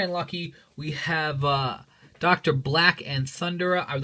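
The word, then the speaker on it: Dr. Black: lucky we have uh Dr Black and thundra I would like to point out that that says Dr black with a B I've had so many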